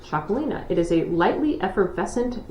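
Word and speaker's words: Txakolina: If you're wondering how in the hell do you spell Chacolina, T-X-A-K-O-L-I-N-A, pronounced Chacolina.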